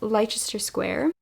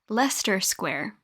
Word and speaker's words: Leicester Square: It's called Farewell Leicester Square. Hello. This isn't embarrassing at all. My boyfriend just informed me that it is in fact pronounced Leicester Square.